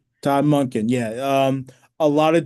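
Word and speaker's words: Monken: And um uh other news, um the Cleveland Browns have hired Todd Monin. That's how you say his name. Todd Monkin.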